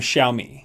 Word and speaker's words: Xiaomi: the aurora ye light light strip plus from xiaomi yes that's how you say it Xiaomi so